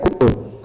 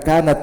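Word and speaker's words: كنت: Di kana kalau bersama dengan damir rafa mutaharrik itu bacanya kuntu. Bukan kanat bukan. Atau kan bukan, tapi kuntu.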